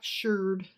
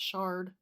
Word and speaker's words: sherd: But they called it a sherd. Right. And if you do a fart that's not what you think it is, then it's a shart. there's the pronunciation for you. Pot sherd. Pot sherd. Instead of pot shard.